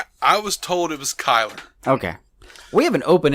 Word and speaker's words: Chyler: I was told it was Chyler. Okay. We have an open invitation for anyone to give us phonetic pronunciations to any of these things.